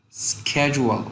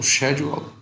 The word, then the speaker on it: schedule: have a very busy schedule or schedule both pronunciations are right reduce mind survive rainy